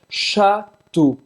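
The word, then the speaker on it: château: ela tá chegando agora para pronunciar castelo francês chato chato e a o em francês tem um som do u-chan chato chato tem muitos castelos na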